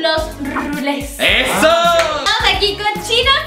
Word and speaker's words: Rulés: tiene un acento en la E al final. Los rules.